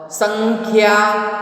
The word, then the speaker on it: संख्या: अंग का प्रोनाउंसिएशन यहाँ पे आया है संख्या। प्रोनाउंसिएशन किस तरह से होता है? जैसे ऊपर बिंदी लगाई, अनुस्वार लगाया गया हो, इस तरह से इसका प्रोनाउंसिएशन होता है। This pronunciation is like we have to पुट द वन अनुस्वार ऑन द टॉप ऑफ the word, but उसको अंग के रूप में भी हम लिखते हैं, संख्या।